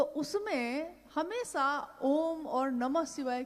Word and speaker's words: ओम: ध्वनि की आवाज थी अ ओ म अगर एक साथ सुना जाए उसको तो उसकी आवाज गूंजती हुई ऐसी है जैसे हम बोलते हैं या उच्चारण करते हैं तो हम कहते हैं ओम है वोह अ उ